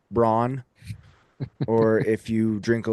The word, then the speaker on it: Braun: I think I think everyone's shoppable unless you wear number 15 or your last name is pronounced Braun or if you drink a little too much of that eggnog during Christmas.